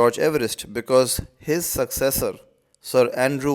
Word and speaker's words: Everest: We pronounce it Everest, but I believe Sir George Everest pronounced his own surname as Everest.